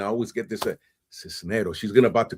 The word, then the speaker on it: Cisneros: You got it right. You said Cisneros. Cisneros, thank you.